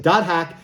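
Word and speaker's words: .hack//SIGN: know like i said dot hack you don't like mine the dashes and you say the word that's after it so this is dot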